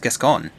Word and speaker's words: Gascoigne: You must have killed Gascoigne as well, then. Oh, so it's pronounced Gascoigne.